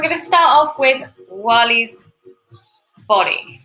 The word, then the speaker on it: Wall-E: And we're going to start off with Wally's body. You have to say it like Wally. Wally. You can't just say it.